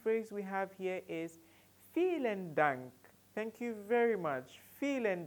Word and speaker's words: vielen Dank: vielen Dank, vielen Dank, vielen Dank. Take note of the pronunciation, like you want to feel something, vielen Dank, vielen Dank.